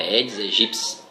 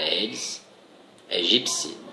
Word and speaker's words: Aedes aegypti: A pronúncia correta é Aedes aegypti. Escreve-se Aedes aegypti, mas a pronúncia correta é Aedes aegypti. O piti tem som de psi, né?